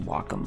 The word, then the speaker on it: Wacom: probably hear my wacom it's actually pronounced wacom by the way uh pen on the